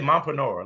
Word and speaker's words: mompreneur: And then I was in the next live and I was like, bitch, let's say mompreneur, like entrepreneur.